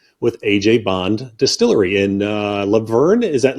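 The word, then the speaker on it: LaVergne: And I have the great pleasure to be speaking with Allisa Henley with AJ Bond Distillery in Laverne. Is that Laverne, Tennessee? Is that correct? That's correct. Okay, You pronounced fantastic.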